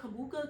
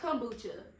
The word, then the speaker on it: kombucha: do you say kombucha how do you say Kuka Kuka y'all stop being dumb stop being stupid it's kombucha read the word right Kucha and go drink